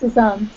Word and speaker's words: Suzan: whole time I keep I keep calling you Susan with a z but you say suzan oh yeah it's suzan suzan okay all right